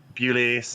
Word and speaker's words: Bewley: Bewley rhymes with Spewley, easy to remember.